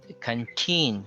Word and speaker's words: canteen: Okay, but you don't do that with canteen. So the reason is because the teen there is a stressed syllable.